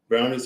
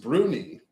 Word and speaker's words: brownie: Brownies are shaggy, ugly little dwarves. Not shaggy, ugly little dwarves. That's rude. Their name is properly pronounced Bruni and not Brownie.